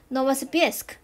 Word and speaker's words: Novosibirsk: 俄罗斯，这个地方念 Novosibirsk，是新西伯利亚，因为它是俄罗斯那边嘛，所以它这个发音也比较像俄语。